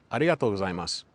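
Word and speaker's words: ありがとうございます: a, o, u, o, a, I, a, u. Repeat that a couple of times and then try to say it again. Arigatou gozaimasu. See how much better my pronunciation got just in the time I practiced that one time. You should be aware that each syllable needs to be pronounced separately. When I started studying Japanese,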